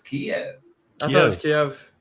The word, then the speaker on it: Kyiv: How you pronounce it? Kyiv. I would say it's Kiev.